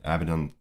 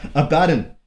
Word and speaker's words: Abaddon: was latham weeks then caliban's war then yeah avadon yeah your weird pronunciation of abaddon abaddon avedon's gate then sabola byrne is my favorite